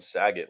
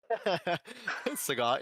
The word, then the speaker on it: Sagat: Like I always called him Saget, like Bob Saget. Sagat, yeah.